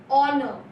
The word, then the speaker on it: honor: Honor, we used to say H-O-N-O-R, but we should not pronounce H there. We will be telling us honor.